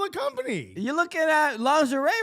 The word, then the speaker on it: lingerie: them down that route lingerie lingerie right that's how you pronounce it okay we have